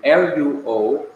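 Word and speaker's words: λύω: And notice, both Greek words are pronounced in the same way. L-O-U-O is pronounced luo, and L-U-O is pronounced luo.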